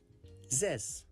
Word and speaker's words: zes: five six is sess this is pronounced like z and the s sound of the word mess z and s zes seven is seven This is kind of pronounced like and fun.